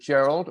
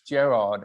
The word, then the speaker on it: Gerard: all right when i came up with gerald or jerry and i said no it's gerard and then no and then somebody an american said no it's gerard oh bloody hell i'm